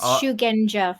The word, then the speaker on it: Shugenja: think I I be all hard again it's shugenja for anybody who is not sure how to actually pronounce it uh zero is not enough for